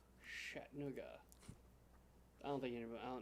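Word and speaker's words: Chattanooga: is that M ganders pronounced the CH sound like sh like we spell Chi T so it's shat NOOA shat NOA I don't think any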